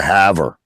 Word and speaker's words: Haver: I would call it The Haver. You see, I'd call it the Haver because it's a fucking word that comes from Scotland, so it's a Scottish word and that's how it's fucking pronounced.